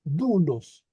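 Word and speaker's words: δοῦλος: que en español excepto cuando tenemos una omicron se pronuncia como u u una como supo entonces aquí es dulos Jo dulos Este es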